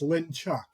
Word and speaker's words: Linchuck: I'll correct you really quick, Les. It's Linchuck. Oh, gee, I mispronounced the name.